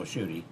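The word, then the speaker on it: Tschudy: Well, Bill Schutte's name is spelled very differently. Yes. It's T-S-C-H-U-D-Y.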